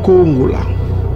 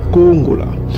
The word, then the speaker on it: Kongola: On prononce ça Kongola. Kongola. Donc, vous voyez, on a beaucoup publié ça, ça énerve l'ennemi.